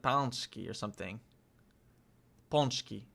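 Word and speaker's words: pączki: And with beautiful nature coupled with gorgeous architecture, delicious banski and even the best soccer ponchki ponchki beautiful nature coupled with gorgeous architecture, delicious bonski and even am I crazy or did he say it weird?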